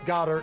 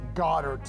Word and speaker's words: Goedert: So you're like, I don't even know how to pronounce Goddard. Goedert. And Goddard. I don't, yeah, and it's like Gogurt.